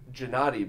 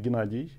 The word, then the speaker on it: Gennady: area, and I've heard Gennady before pronounced with a G, but never with an H. G is kind of Russian notation of my name.